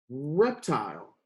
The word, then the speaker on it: reptile: Tile, reptile, awesome work. Now remember, this E at the end makes the I before it say its name. And the E is silent.